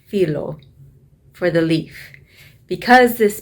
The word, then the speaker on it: phyllo: greek they pronounce it phyllo in greek it is actually pronounced filo for the leaf because